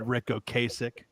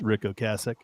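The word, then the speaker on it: Ocasek: I've always said Ricko Kasich. Sean constantly sends me the video of the cars introducing themselves all the time as it's Rick Oasich and it's him saying his own name.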